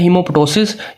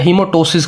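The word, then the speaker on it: hemoptysis: Reddish जो है ये इंडिकेट करता है हीमोप्टोसिस या हीमोटोसिस कहते हैं, ठीक है। समटाइम ये पी साइलेंट होता है प्रोनाउंसिएशन के अंदर, ठीक है।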